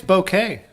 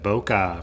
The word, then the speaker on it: bokeh: there we go damn it they say it's bouquet they say k-e-h is how it's supposed to be pronounced now we've said boca for years and it's a japanese character for